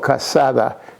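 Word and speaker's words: cassata: same thing the Italian the Sicilian cake is called Casada Casada that's how you pronounce it and it's very delicious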